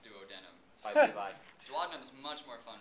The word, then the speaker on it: duodenum: biology teacher from Wyoming, and he stressed to us that it's pronounced duodenum.